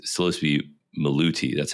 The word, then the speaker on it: Maluti: It's supposed to be Maluti. That's how you pronounce it, right? Maluti.